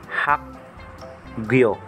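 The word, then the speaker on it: 학교: K po naman po ang bigkas pag nasa ending consonant. Ito naman po, pag nasa, nilalagay yung symbol na to sa, sa second syllable, nagiging G naman po ang bigkas. Ito naman sa ilalim ng G, yung vowel na yo, na sounds like yo-yo.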